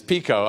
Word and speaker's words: PICO: director of the pico national network and it's pico although we have a funny name we're going